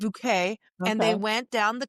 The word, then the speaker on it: Bucket: You can't say it's and her name is spelled bucket and it's bouquet.